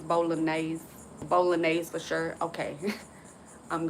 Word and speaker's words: bolognese: It's bolognese.